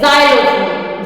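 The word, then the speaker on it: xylophone: एच ओ एन ई जाइलोफोन जाइलोफोन जो बजाने वाला होता है उसको कहते हैं जाइलो फन तो यहां पे एक्स का प्रोनंसिएशन ज आया है जाइलो गाड़ी भी आपने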